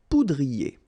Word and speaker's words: poudrier: Okay, remember, O-U, ou, pou, poudrier.